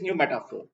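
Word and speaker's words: pneumatophore: So it is new metaphor. P is silent there.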